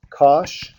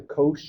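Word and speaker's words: cosh: the same thing for this one okay I pronounce this one as Kos okay so this is the Cinch this is the Kos you might hear people call it the co or something like that doesn't really matter the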